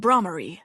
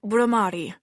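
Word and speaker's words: Bhramari: is a representation of bramar a Hindu goddess of bees am I pronouncing that correctly Leila it's bamari she corrected gently Enrique made a note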